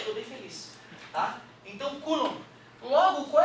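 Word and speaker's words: coulomb: nome desse cezinho coulom se escreve coom mas a gente não lê aquele ouu ali é coulom beleza e também se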